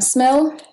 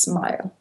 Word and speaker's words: SMIL: I use JavaScript um smell oh it's it's officially pronounced smile but I don't get it I mean there's no e in the end smell is dying it's it's